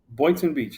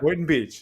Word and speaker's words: Boynton Beach: Today's guest is Mario Guzman, who's the Director of Public Works at the city of Boynton Beach. Did I say it right, Mario? Boynton Beach, yeah. Boynton Beach.